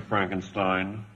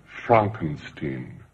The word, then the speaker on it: Frankenstein: have one question dr frankenstein that's frankenstein i beg your pardon my name it's pronounced frankenstein but aren't you the